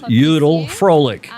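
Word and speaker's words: Vrolijk: to tell Peter it's Judel Froelich. A V in German is pronounced like an F, and the J is pronounced like a Y.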